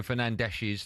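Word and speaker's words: Fernandes: Anyway, what we just talked about today marks Bruno Fernandees's 31st.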